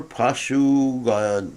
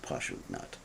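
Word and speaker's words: paśughna: for those who are pashu god not i didn't pronounce that right it's just posh nut those are killers of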